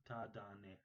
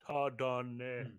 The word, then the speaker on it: Tadane: Ne or me? Tadane. Ne. We don't know male or female, right? Tardane.